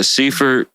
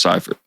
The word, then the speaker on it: Seifert: But yeah, Seaford.